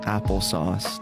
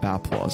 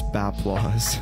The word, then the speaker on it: Bapplause: shout out zero none applesauce a lot of people actually think my name is pronounced applesauce it's actually baplois i'm just clarifying it's baplois i'll never get more